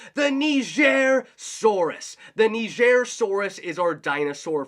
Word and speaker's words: Nigersaurus: Just like in the past, we've always talked about how to pronunciate dinosaur names. Now, I always used to call this one the Nigersaurus.